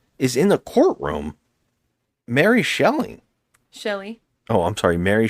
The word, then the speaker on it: Shelley: Well, what's even more nuts is in the courtroom, Mary Shelley. Shelley. Oh, I'm sorry, Mary Shelley. Shelley. I'm sorry, Mary Shelley. Yes. You keep saying shelling.